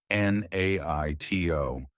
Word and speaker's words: NATO: A NATO representative NATO is pronounced as a word, NATO, starting with a consonant sound, so A is used.